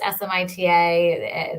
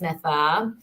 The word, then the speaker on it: Smita: name is interesting right it's it's pronounced Smita but it's actually pronounced Smitha and I realized like